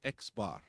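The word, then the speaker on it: x̄: Not is the inverse and as we talked about not in our book here it's going to be xbar. We're going to pronounce it Xbar.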